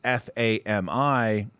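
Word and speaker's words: FARMMI: you can see that it's spelt uh f-a-r-m-m-i inc as simple as fami from left to right the stock was 38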